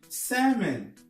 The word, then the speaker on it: salmon: Salmon. On ne prononce pas le R.